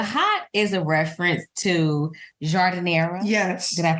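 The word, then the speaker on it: giardiniera: peppers yes the hot is a reference to jardinera yes did I pronounce it yes jera and the dip is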